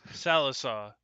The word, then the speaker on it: Sallisaw: Sallysaw? Salisaw. Sallisaw. To Vian area or Vane. Language is weird, where I's sometimes can be pronounced as like A's.